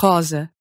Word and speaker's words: rosa: The one case in which you're going to switch over to a voiced Z sound is when you see a lone S in between two vowels. That gives you words like asa and rosa.